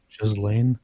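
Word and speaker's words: Ghislaine: How do you pronounce her name? Gelain. Is it Jill Sain? Jiz Lane.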